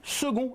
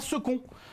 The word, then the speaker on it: second: mot second que c'est le seul mot de la langue française où le C se prononce g car on dit second et pas sec même si certains le